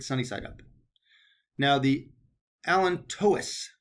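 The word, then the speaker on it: allantois: I prefer it sunny side up now the alent Tois right that's the actual pronunciation I used say alenta or aleno but it's alent Tois this forms most of the umbilical cord so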